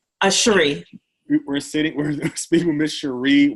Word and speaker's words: Cheree: Do you pronounce it Cheree? Cheree.